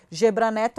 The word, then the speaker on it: Gebran Neto: do lula no trf4 gebran neto se pronuncia gebara neto é passa do sérgio